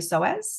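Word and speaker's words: psoas: really intriguing muscle called your soas do you know much have you heard much about your soas no no oh it's fascinating so it's spelled PS o a s and from a physical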